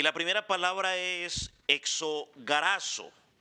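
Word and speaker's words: ἐξαγοράζω: Y la primera palabra es exogorazo. Hexagorazo. Pronúnciala así, pues, hexagorazo.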